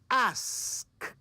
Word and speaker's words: ask: First, think of ass. Then add the K. Ask.